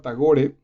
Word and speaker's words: Tagore: tagore rabindranat rabíndranath tagore bueno pues tagore en realidad está gore sí porque no lleva acento en la última sílaba tagore nació el 7 de